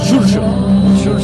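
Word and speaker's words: Xurxo: Churcho. Yeah, the X's are a TH. So it's like an SH. Churcho. It's like Jorge in Spanish. Galician is Churcho.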